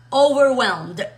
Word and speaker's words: overwhelmed: no over over over Esa es la primera parte over y Ahora la vamos a meter la segunda parte que es OK Mira cómo se escribe w o v h e l m e y d over y luego está dividido en dos palabras pero hay que pegarlo todo lo pegamos todo decimos overwell es un adjetivo que